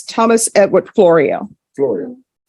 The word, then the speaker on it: Florio: Flores at first and then Floria. Okay. Florio. Florio, like Florio's Pizza up in Oh, okay.